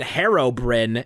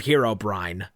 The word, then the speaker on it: Herobrine: I would die and people who pronounce it Herobrin instead of Herobrine um that's how it